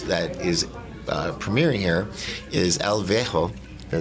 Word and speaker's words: El Viejo: One of the amazing films that is premiering here is El Viejo.